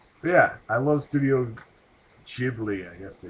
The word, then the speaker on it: Ghibli: yeah I love Studio Ghibli I guess they call himself now I used to just call it give me because I didn't ever see it pronounced until Disney bought it